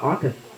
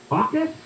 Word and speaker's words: AUKUS: Let's shift gears here and talk about AUKUS. AUKUS? Yes, I think I'm pronouncing that correctly.